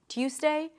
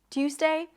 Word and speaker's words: Tuesday: However, sometimes people might devoice the Z sound and it might sound closer to an S, Tuesday, Tuesday. Not a big deal, do whatever is easier for you, as long as the first syllable is clear. Tuesday, Tuesday. Now you can also drop the Y sound. And then just connect the T to the U. Two, two, two. Just like the number 2.